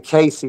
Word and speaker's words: Cayce: And it's spelled like Cayce or something like that.